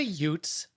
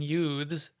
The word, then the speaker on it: Ute: have to just say you should say utes as in nomads not not not as in mispronouncing youths that i mean they're